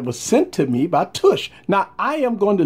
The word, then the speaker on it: TUCCH: got a case here by tush that's how you kind of pronounce it tush take the world all